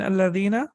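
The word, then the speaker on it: الذين: So whenever you connect it, you don't pronounce it. It is always to be read like this. And alladhi, allati, and alladhina, all of them, their hamza is hamzatul wasl.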